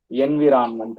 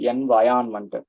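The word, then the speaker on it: environment: இப்போ for example most காமனா எல்லாரும் பண்ற மிஸ்டேக் எதுன்னா, நான் அப்சர்வ் பண்ணது வந்து என்விரான்மெண்ட் அப்படின்வாங்க. லைக் என்விரான்மெண்ட்னு ஒரு வார்த்தை எல்லாம் கிடையாது, என்வயான்மெண்ட். ஆர் is very silent.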